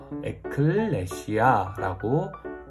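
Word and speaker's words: ἐκκλησία: 화면을 보면 어떻게 읽냐면 에클레시아라고 읽습니다. 에클레시아.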